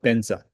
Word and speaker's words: Vajra: So instead of Vra for example Tibetan say often benza the the letter V doesn't exist in Tibetan language.